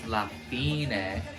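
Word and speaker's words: La fine: they are King arrests they pronounce lafina oh that sounds familiar slapping it no I don't know any of the other lyrics oh it does almost smoothly transition so that was lafina sorry that sounds very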